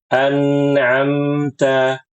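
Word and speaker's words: أنعمت: sifatnya naqisah di sini anamta anamta ini yang benar bukan anamta bukan an ta bukan atau kemudian mengubah huruf nun dengan mim dan mengubah huruf Ain dengan Hamzah ini biasanya anak-anak ya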